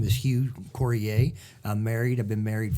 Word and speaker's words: Coryea: Coryea.